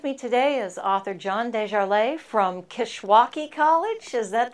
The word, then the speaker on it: Dejarlais: With me today is author John Dejarlais from Kishwaukee College.